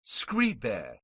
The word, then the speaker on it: scribe: of scree bow is scree bear with a short e meaning write exclamation point